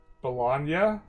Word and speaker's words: Bologna: Like lasagna. Bologna. It's Bologna.